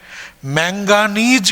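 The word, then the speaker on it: manganese: मैगनेट मैगनेट नहीं पढ़ते हैं इसको नहीं तो स्पेलिंग में गलती हो जाता है मैगनेट मैंगनीज कहते हैं मैंगनीज नहीं कहते हैं मैंगनीज इसलिए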